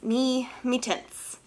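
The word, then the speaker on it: Mi-Teintes: Now, paper, I will be using, I always mispronounce this, me tints. Me tints, haha, I got it right.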